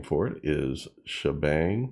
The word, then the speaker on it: Sha#Bang: name for it is shabang I think that's how you pronounce it because you got a hashtag there in the midddle S sh hashtag b